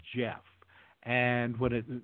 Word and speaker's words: Gef: main Jack Jack and it preferred the name Jeff and what it said Jeff it was to be spelled you know like the old-fashioned way of spelling Jeff GE o FF but Jeff spelled it out phonetically and he spelled it GE F and